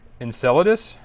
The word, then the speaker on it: Enceladus: Enceladus.